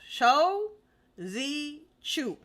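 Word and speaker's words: Shou Zi Chew: sound like an idiot Shu no show Z Chu and if I'm saying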